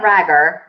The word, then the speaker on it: Rhaegar: Well, she was saying Rhaegar. This is the way you say his name.